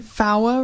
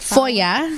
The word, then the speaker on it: FOIA: And then VAWA request. Is that how you say it? FOIA. FOIA. Yeah. FOIA request.